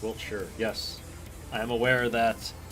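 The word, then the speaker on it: Wiltshire: Wilt sure is pronounced Wilt sure yes I am aware that UK place names do not pronounce any of the center syllables so Chet his favorite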